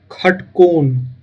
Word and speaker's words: षटकोण: षटकोण, षटकोण का जो मैथिली में उच्चारण होता है वो होता है खटकोण, ख, खटकोण।